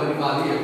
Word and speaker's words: Animalia: E por último, o reino Animalia, ou Animalia, como outros pronunciam.